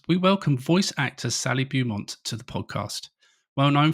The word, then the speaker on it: Beaumont: It's Beaumont. Made it sound as boring as possible. Beaumont.